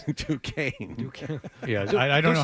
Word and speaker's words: Duquesne: Duquesne. Yeah, I don't know how that's Duquesne. That's like Chade. It looks like Duquesne, but it's Duquesne.